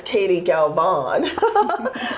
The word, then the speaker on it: Katie Galvan: Because Katie Galvan.